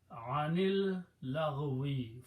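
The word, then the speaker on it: عن اللغو: When you pronounce them together, you do not pronounce this alif, it becomes hamzatul wasl, and you put a small swad on it.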